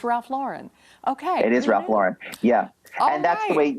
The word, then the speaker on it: Ralph Lauren: we know it's ralph lauren okay it is ralph lauren yeah and that's the way you know that's the way he pronounces it um and you know it's just